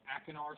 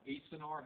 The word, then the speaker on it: acinar: of langerhan are called you can either call them akinar cells or acenar however you want to pronounce them spelled a-c-i-n-a-r okay so pancreas iodide of